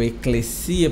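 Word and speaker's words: ἐκκλησία: vem Eclésia e crescia Eu Estou pronunciando em grego e crescia porque o s sai doce né como se fosse é um cê e crescia Mas aí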